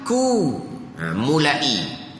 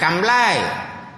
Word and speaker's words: ku mulai: Kaf sambung dengan mim Kaf tu ku mulai bukan kamlai ha tu ejaan ejaan